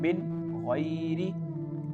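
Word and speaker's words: مِنْ غَيْرِ: Here the letter ghain, this letter ghain is the part of throat letter, so because of this we have to pronounce this word like min hawlihim, clear voice of noon, min ghairi.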